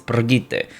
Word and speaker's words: Brigitte: And everyone hated Brigitte, or that's how you pronounce her name apparently. It's Brigitte.